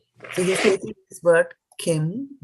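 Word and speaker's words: किम्: So the word Kim in Sanskrit, is like this word. The M is a half M in the Kim.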